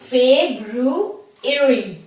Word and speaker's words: February: a day but it is wrong the correct pronunciation is fabe rue erie fabru erie fabru airing not february it is february okay